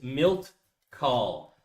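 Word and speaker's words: Milt Kahl: This is Milt Call. So, it's going to be I'll spell it out for you.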